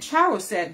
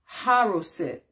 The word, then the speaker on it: charoset: So I said charoset, but the C is silent and it's pronounced haroset.